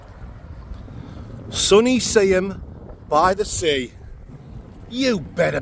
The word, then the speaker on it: Seaham: I'm in my hometown today, Seaham, sunny Seaham by the sea. I think the proper way to say it is Seaham, but us locals just say Seaham.